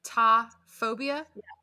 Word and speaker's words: taphophobia: that for real yeah is it t-a-p-h like ta phobia yeah ta what is the